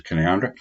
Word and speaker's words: Canowindra: Just thought I'd take a quick trip out to Canoundra, spelt Canowindra, spelt Canowindra, but it's pronounced locally as Canoundra.